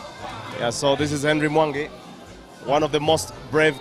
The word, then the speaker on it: Mwangi: Henry Mwangi, one of the most revered Kenyan players, especially in the Ugandan space. The Ugandans call him Henry Mwangi. That's how the name is pronounced back home.